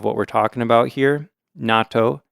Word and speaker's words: natto: the Double T S you put the emphasis on the second syllable and yeah there's a